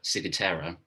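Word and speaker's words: ciguatera: i was diagnosed with the case of uh sigutera is that was that right pronunciation yeah yeah um actually i i wasn't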